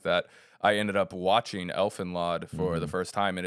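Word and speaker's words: Elfen Lied: That's how you say it, Elfenlod.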